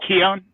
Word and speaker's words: Keown: Yeah, Gaelic, whatever. But it is like Keown. Basically.